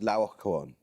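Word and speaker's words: Laocoön: Yes, usually pronounced Laocoon.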